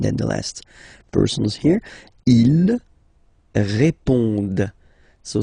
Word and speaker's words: répondent: Ils répondent. So same thing here, classic ending, ENT, but then you don't pronounce it. Okay? Répondent. Répondent. Ils répondent.